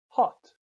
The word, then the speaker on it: hot: is ah you now the letter O usually makes a sound o as in hot ah an example is the Pennsylvania Dutch word hot which means doesn't mean hot it means has hot you hot Oh makes